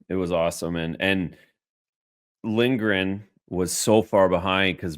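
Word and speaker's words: Lindgren: call him lyberg it's lingren did I call him Lindberg I don't know did I say Lindberg no no you said it right I said it wrong oh sorry anyways go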